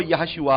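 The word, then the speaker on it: יהושע: है वो यीशुआ है, और उसका जो सही प्रोनाउंसिएशन हिब्रू भाषा में है वो यहोशुआ आता है।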